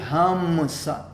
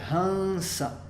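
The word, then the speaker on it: हंस: Não é um M porque a gente não vai fechar os lábios, não vai ser hamsa, vai ser hansa.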